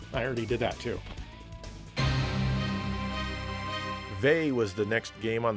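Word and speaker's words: Vay: to the games I already did that too V was the next game on the Sega CD in 1994 or VI as the game pronounces it this is an RPG originally developed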